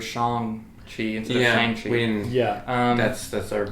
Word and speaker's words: Shang-Chi: mean first of all i've been mispronouncing it i didn't realize it was shang tree yeah um that's the